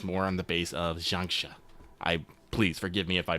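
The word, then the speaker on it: xianxia: I looked it up how to say it earlier. I think I forgot how to say it, so I'm just gonna go with it's like xiangxia, which is basically Chinese fantasy.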